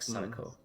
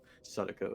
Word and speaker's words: Sadako: Yeah, it's you just tap on that consonant, like Sadako. Sadako as well, yes. Kind of between the D and R sound when it's spelled with a D.